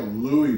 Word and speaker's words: Louis: Louise drus and You' that's Julia Louie drus right you don't pronounce the s I don't know